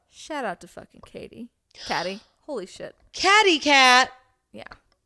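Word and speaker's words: Caty: Her name's Katie, but it's really Catty. Because it's spelled C-A-T-Y, so it's Catty.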